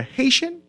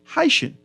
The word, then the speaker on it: Haitian: it because they are Haitian or like a lot of persons pronounce it haen with a y is it because of